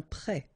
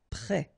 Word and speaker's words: prêt: You don't pronounce it, and then both of them are masculine. Un port. Un prêt. Prêt.